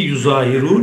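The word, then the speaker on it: يظاهرون: Yani bu ayetteki yuzahirun, yazzaharun, yazzaharun, yuzahirun diye okunuyor.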